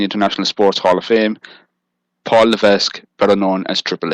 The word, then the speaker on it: Levesque: lisu it's LC it's Levesque no it's not he doesn't pronounce the S go to the an